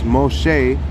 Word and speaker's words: Moshe: that's why I say Moses is not Moses it's Moshe and his name is